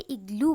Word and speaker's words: igloo: Okay हम लोग आइग्लू नहीं बोलते, इग्लू बोलते.